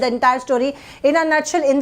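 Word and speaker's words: in a nutshell: मगर हम इसका करेक्ट प्रोनाउंसिएशन गाइस होता है इन अ नटशेल, इन अ नटशेल होता है।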